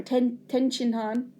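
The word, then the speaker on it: Tien Shinhan: There was no Yamcha there, or Tien Han, or Ten Han, which is the correct way apparently to say it in Japanese, or Chaozu, or Chaozu, right?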